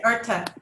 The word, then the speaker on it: Artha: Is that how it's pronounced, or am I saying that wrong? That's right, Artha. Okay. They don't say the H.